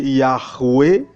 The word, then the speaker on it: Yahweh: de la Bible hébraïque YHWH, qui est prononcé Yahweh ou Yahweh.